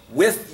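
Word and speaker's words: Wythe: With, you pronounce his name with.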